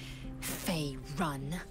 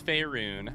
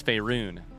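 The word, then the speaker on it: Faerûn: on matters of this Fey run it's faerun I hate to be that guy I hate to be the linguist in the group but I am a bard pronunciation is my vocation it's fairun what do you mean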